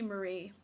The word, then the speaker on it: Mari: Mari um it's actually it was originally Marie but I prefer Mari so that's how I pronounce it you know so